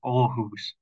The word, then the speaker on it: Aarhus: And that is how it's pronounced, Aarhus. It's an old city with a young population. About a third of the population is under 30 years old. Many of those are students at Aarhus University or another educational institution in the city.